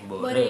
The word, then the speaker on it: Bore: Ada dari sini sih ada Ikal, Ikal, Mahar, Lintang, Lintang, Boran, Bore ya. Bore, bacanya bore.